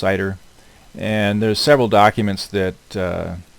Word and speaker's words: CIDR: So this aggregation process, what you'll hear it referred to a lot of times as classless inter-domain routing, or CIDR, CIDR, pronounced CIDR.